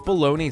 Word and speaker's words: bologna: save two minutes yeah when bologna rhymes with pony it is bright yeah definitely like a problem I I but like why is why does baloney sound like that is there like uh